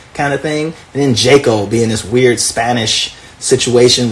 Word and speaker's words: Jaco: It's actually pronounced Jaco, as if it was like Jalisco, and with the silent or the H sounding J, right?